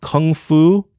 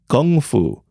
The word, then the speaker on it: kung fu: First off, the proper pronunciation of Kung Fu is Gung Fu, with a G instead of a K.